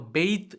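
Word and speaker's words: bathe: ஸோ இதை நம்ம பெய்த் அப்படின்னு சொல்லி தான் ப்ரொனவுன்ஸ் பண்ணணும்.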